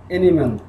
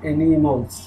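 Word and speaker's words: animals: করে উচ্চারণ করতে হবে বাংলাদেশের বেশিরভাগ মানুষ বলে অ্যানিম্যাল আসলে এটা হবে অ্যানিমলস দ্য কিউই দ্য ক্যামল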